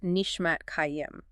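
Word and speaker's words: נִשְׁמַת חַיִּים: The nishmat chayim, pronounced nishmat kayim.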